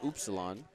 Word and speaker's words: Upsilon: Well, the Greek pronunciation is Upsilon. So, yeah. I say ups, but I won't fault anybody either way.